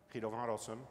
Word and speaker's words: Guido van Rossum: It replaced the BDFL, Guido van Rossum, and yes, that is how you pronounce his name, when he retired in 2019.